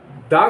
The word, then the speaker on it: the: ध्वनि का मतलब है उससे हो, वहां पे दा को दी बोलेंगे। दी will be pronounced as दी, THE, दी।